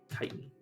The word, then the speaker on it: chitin: Chitin. Or chitin. I prefer chitin, personally. Chitin. But yeah, chitin's definitely. Pretty sure that's the way it's actually supposed to be pronounced.